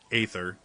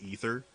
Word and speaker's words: aether: that I play named aether as much as everybody in this game pronounces it ether I don't understand why